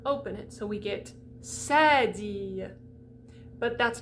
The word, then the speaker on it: cédille: So the cédille has an accent aigu over the top. It's going to close it right up.